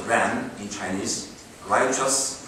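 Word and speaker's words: 仁: Likewise, Confucianism seeks the roots of everything from universal moral order called benevolence, pronounced Ren in Chinese, righteous, pronounced Yi, courtesy, pronounced in Chinese Li, wisdom, Zi, and considered these moral orders are immanent in human.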